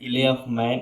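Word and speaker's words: Isle of Man: ये इले इसले ऑफ मैन, इसमें यल साइलेंट दोस्तों है। इसमें इले ऑफ मैन एक जगह है डॉगलास में, वहाँ पे ये चल रहा था।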